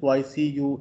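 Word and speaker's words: Poiseuille: L, this is called हैजन पॉइसी यू equation, double L जो है इसमें साइलेंट है, तो मैस फ्लो रेट आपने निकालना है।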